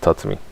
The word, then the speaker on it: Tatsumi: I said Katsumi instead of Tatsumi.